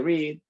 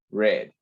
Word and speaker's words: read: Se pronuncia en presente read, en pasado se pronuncia read.